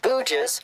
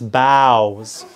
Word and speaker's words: boughs: He spent his time in the forest cutting down bougies from the trees. Cutting wood. Wait. What is bougies? Bougies, right in there. That's boughs. B-O-U-G-H is bow? Right. Bow.